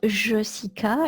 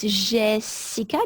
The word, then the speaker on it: Jessica: So we double the L because in French, when the letter E is followed by two consonants, the pronunciation is E. So it's the case in L. It's also the case in my name. It's not Jessica, it's Jessica because it's followed by two S's.